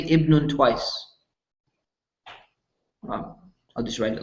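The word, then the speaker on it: ابن: So ibnun. But here's the thing. If you're starting the beginning of a sentence, you're going to say ibnun.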